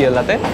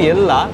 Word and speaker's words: Ella: অজিত গাড়ি নিয়ে পৌঁছে গেছে অলরেডি ইয়েল্লাতে। আচ্ছা, উচ্চারণটা আমি করছি ইয়েল্লা, এরাও তাই করছে, কিন্তু স্পেলিংটা হচ্ছে ELLA, ELLA, ইয়েল্লা, ইয়েল্লা, কিন্তু এরা বলছে ইয়েল্লা।